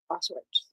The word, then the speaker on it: Auschwitz: But today is the 80th anniversary of Auschwitz.